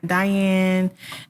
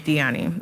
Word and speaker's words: Diani: My name is Diani. How you spell it? How I spell it? Diani. Okay, not Diane. No, it is Diani.